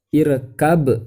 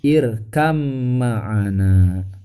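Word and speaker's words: ارْكَبْ مَعَنَا: Tapi kalau ba sukun bertemu dengan huruf ma ya, huruf mim, yaitu huruf yang berdekatan dengan huruf ba ya, tempat keluar hurufnya, maka irkab itu tidak tepat. Jadi dibacanya irkam ma'ana. Tuh, ba sukunnya dimasukkan ke huruf mim.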